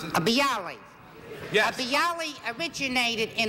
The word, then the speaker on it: bialys: a B Ali is that the way you pronounce bialys yeah the Yali originated in a place called